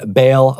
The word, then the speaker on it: Baal: up reading this story it's possible that you pronounced the the god baale Baal that is totally fine I think since he's not real he's probably not going to get offended so you can call him Baal if you want to to okay but we're going to pronounce his name Baal today either way Ahab marries